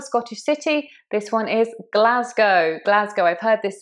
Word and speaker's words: Glasgow: It's not like ow as in cow. It's an O. Glasgow.